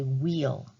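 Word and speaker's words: wheal: see which one produces what we call a wheel but that's spelled w-h-e-a-l and a wheel is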